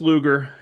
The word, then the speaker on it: Luger: We are here with Chris Luger. And uh Chris, you may you may know this. Uh Luger, pronounced like the old 1990s wrestler, Lex Luger.